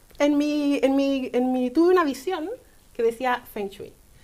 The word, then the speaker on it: Feng Shui: Pero el Feng Shui, en cambio, que realmente se pronuncia Feng Shui, pero todos le decimos es Feng cierto, Shui. es cierto, ¿sí? es Feng Shui.